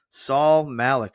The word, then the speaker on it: Saul Malek: Please welcome Saul Malik. Saul, welcome. Adam, it's great to see you and thank you for pronouncing my name correctly.